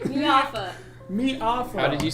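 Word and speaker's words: Miafa: Mafa. Mafa. Oh, did you spell it again? You said M. M I A F A. It's Miata with an F.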